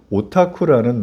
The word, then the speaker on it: 오타쿠: 자이 용어는 원래 일본에서 오타쿠라는 말을 한국식으로 발음을 하다가 줄여서 부른 말 오더쿠를 줄여서 덕쿨라고 이렇게 부르게 된 겁니다.